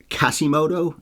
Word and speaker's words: Quasimodo: plot I should address kasimoto and the word Gypsy generally people seem to be saying the Q as a K in this movie so kasimoto I've always heard Quasimoto so that's probably how